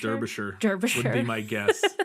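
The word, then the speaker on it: Derbyshire: to say this der derish derish derish would be my guess it's it's written like Derby Shire but my guess would be derish derish something like that um so while she's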